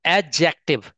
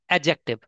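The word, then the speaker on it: adjective: तो एडजेक्टिव। काफी लोग उसको एडजेक्टिव प्रोनाउंस करते हैं। बट एडजेक्टिव नहीं होता ये। एडजेक्टिव। ड जो होता है साइलेंट होता है। एडजेक्टिव।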